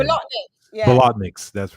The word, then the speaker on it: Bolotniks: Bolotniks, that's right.